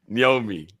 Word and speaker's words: Nyoni: Somebody told me it's like when you're saying Nyash. Yeah, I heard that bit. So Nyomi.